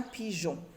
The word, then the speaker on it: pigeon: Le E s'écrit mais ne se lit pas. Je l'écris seulement pour lire J et non G, quand c'est suivi de la lettre O. Donc, un pigeon.